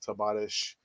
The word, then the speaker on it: Tavares: this talk about uh nuno tavares or we've said tabaresh spanish pronunciation uh people saying oh